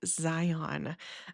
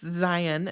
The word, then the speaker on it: Zion: call it Zion National Park, not Zion. Um, now, do I correct other people when they say Zion? No, because to me, it really doesn't matter. Um, but if someone asked me like the right way to say it, I'll say this is what I was told. So, I was told it's Zion National Park.